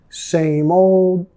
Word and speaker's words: same old: Same old, same old. Nota muchas veces la D al final es muy suave o ni lo vamos a pronunciar, ¿ok?